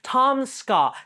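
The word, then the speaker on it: Tom Scott: SCA in any way it's just two syllables bro Tom SCA Tom SCA Tom SCA then I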